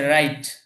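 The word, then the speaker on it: write: এটা রাইট পড়বেন না, কারণ এখানে শুরুতে আছে ডাব্লিউ। তো ডাব্লিউ এর উচ্চারণ কিন্তু দিয়ে হয় না, কিন্তু আমরা উচ্চারণটা কি করছি? রাইট, রাইট।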